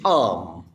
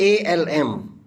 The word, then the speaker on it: arm: And if I say a laborer injured his arm during the course of his working on the machines. And here injury, it's not ALM, it is ARM, ARM. Even R is pronounced as R, not R.